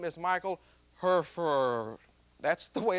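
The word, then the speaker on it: Hfuhruhurr: famous and accomplished neurosurgeon his name is Michael herfur that's the way it's pronounced in the film this is the way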